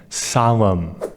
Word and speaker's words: solemn: and note here that the N at the end of that word is silent so when you pronounce it you just pronounce the M Salem cozy this describes a